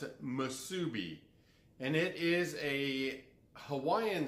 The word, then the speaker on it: Musubi: That's exactly how you pronounce it, Musubi.